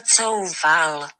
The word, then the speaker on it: Coufal: Listen, this is Google Translate, and this is how you say it in Czech. Vladimír Coufal.